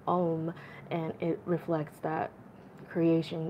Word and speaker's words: om: It's the three syllables of O-U-M, om, and it reflects that creation, maintenance, and destruction.